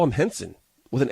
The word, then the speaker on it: Renson: Now, Henson, she specifies it's pronounced Henson. It's spelled R-E-N-S-O-N. To me, that's Renson.